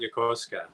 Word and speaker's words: Yokosuka: So it says in your bio that you were born in Yokosuka, Japan. Am I Yeah. pronouncing that right? I call it Yokosuka.